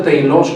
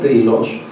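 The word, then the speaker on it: τέλειος: Y otra vez, la palabra perfección viene del griego, se pronuncia teilos, creo, no hablo griego, pero así dice el diccionario, teilos.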